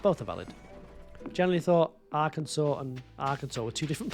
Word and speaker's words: Arkansas: You're learning that Arkansas isn't pronounced how it's You thought it was pronounced A Kansas. You been walking around thinking it's a Kansas. Arkansas or a what? Yeah, it's not a Kansas.